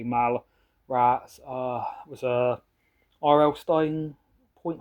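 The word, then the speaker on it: Mallrats: Got Mall Rats, I think it's pronounced, but I always say Mal Rats.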